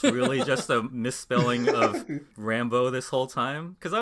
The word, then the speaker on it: Rambeau: thrown me off that I've been pronouncing Rambeau wrong for the last 20 years. Because she's like, I'm Captain Rambeau. I'm like, it's Rambo? I thought it was Rambeau.